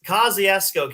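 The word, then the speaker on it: Kosciusko: Uh and it's Kaziasco County at least that's what I was told how you pronounce that one.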